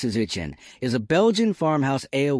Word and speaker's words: saison: A saison, pronounced "se-zon", is a Belgian farmhouse ale with ancient roots.